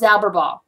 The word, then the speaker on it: Zauberball: I correctly pronounced Zauberball.